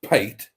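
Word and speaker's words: pâté: And Trace says, clearly you see him as pate, although that actually says pate because there isn't the correct acute accent on the E.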